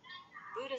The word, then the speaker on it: Buddha: แ ร ก อ่ า น ว่ า B U D D H A น ะ ค ะ Buddha บู ด า